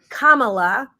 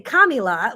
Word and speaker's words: Kamala: didn't say it wrong I now know it's Kamala some people want to say kamila what however you want